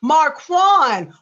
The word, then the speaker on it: Marquan: M-A-R, Mar, Q-U-A-N, Quan. I want to pronounce his name right. I know. Quan. Oh, Quan. Marquand.